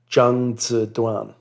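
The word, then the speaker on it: 张择端: the artist was called Jang Z Dan. Now again, for those unfamiliar with Chinese pronunciation, when you see a ZH, think of it like a J.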